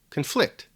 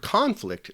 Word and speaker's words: conflict: The difference in pronunciation is due to the fact that the stress or emphasis is placed on different syllables. So in the word conflict, the stress, or the emphasis in pronunciation, falls on the first syllable, conflict.